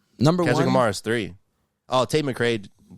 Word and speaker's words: Tate McCrae: onear is three oh Tate McCrae take McCrae take mcra Tate McCrae no Tate mcgrae t how do you say her name Tate McCrae Tate McCrae is it Tate McCrae yeah he says it in the song too you listen to your